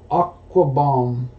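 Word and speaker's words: Okwuegbunam: Albert, I call him Aquafina, but it is Aquabomb.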